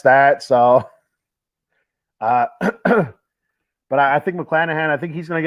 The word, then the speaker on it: McClanahan: McClanahan.